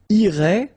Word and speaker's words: irait: And then, il, masculine form, irait, final T not pronounced.